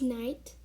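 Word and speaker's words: knight: pronounce it as knife you pronounce it as knife because the k is silent um the seventh word we have is night and you pronounce it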